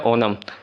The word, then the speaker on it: ओणम: केरल आ गया भाई, केरल है हमारा ओनम, सबसे इम्पॉर्टेंट है ओनम, बहुत लोग ओणम भी कहते हैं बट करेक्ट प्रोनाउंसिएशन है ओनम।